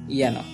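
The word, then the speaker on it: যেন: আমরা উচ্চারণটা জেনো করব নয়, উচ্চারণটা হবে ইয়ানো।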